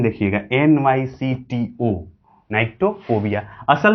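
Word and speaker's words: nyctophobia: Spelling देखिएगा, NYCTO, नाइक्टोफोबिया।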